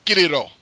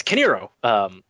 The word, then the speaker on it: Kiniro: pronounced it correctly, because I was tempted to use Kiniro, which is not exactly how you say it. It's Kiniro.